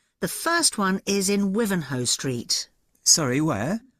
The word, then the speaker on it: Wivenhoe: The first one is in Wivenhoe Street. Sorry, where? Wivenhoe.